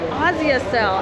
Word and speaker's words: Asia Cell: And I was like, Asia Cell, because you know that's how an American would pronounce Asia Cell, a SIM card store. But then he was like, Asia Cell, and then he pointed me across the street.